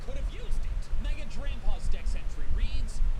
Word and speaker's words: Drampaw: Its name rhymes with grandpa.